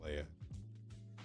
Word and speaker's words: Leah: yeah and same here a lot of people just go with for everything that's l e um